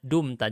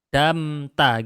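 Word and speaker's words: دُمْتَ: Jadi di sini bacanya dumta. Jadi kalau dia ditempel dengan dhamir, maka dia menggunakan dumta seperti ini ya. Ini memang dipelajari di ilmu shorof rinciannya. Kenapa kok bisa jadi dumta? Kok enggak damta gitu kan, harusnya gitu ya.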